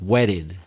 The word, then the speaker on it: wetted: Can you hear that my T's pronounced in a much different way in American English? Not wet, but wedded. It almost sounds like a D.